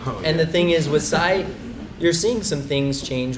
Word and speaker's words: Psy: Psy. That's his name. Gangnam Style, yeah. What did he make in the last 6 months? Psy's made so much money. And the thing is with Psy, you're seeing some things change with the internet,